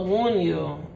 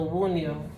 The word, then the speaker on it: Wunjo: So wound you. Okay, so wound you. All right, so that's how you pronounce it.